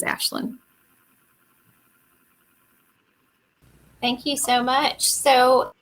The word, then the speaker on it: Aisling: I know it's spelled like Aisling. It's Gaelic, but it is Ashlyn.